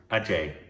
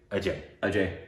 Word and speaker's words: Ajay: Ajay, not AJ. I don't know. That would be a very white way to say it, probably.